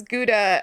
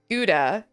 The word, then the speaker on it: Gouda: Who pronounces Gouda as Gouda? Like it's gooey. And who pronounces it Gouda?